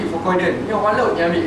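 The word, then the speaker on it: Fucoidan: Pronounced Fukoiden.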